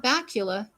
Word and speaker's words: Bakula: Oh, and we totally forgot at the very beginning of the episode, they're video chatting with Scott Bakula because his name rhymes with Dracula.